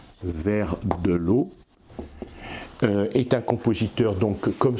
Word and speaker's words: Verdelot: donc vers de loi comme ça se prononce pratiquement vers de l'eau est un compositeur donc